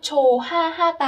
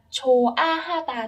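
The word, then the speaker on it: 좋아하다: Ở đây các bạn lưu ý sẽ không có nối âm chô ha ha ta ở đây, tại vì chữ hò là một âm rất nhẹ cho nên nó không được nối lên và các bạn chỉ đọc là chô a ha ta thôi ạ.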